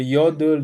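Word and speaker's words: יוד: Euh après dans l'ordre, il y aurait le you ou c'est le yod. Yod ou yude, hein. Je veux dire, il y a des deux prononciations sevent hein.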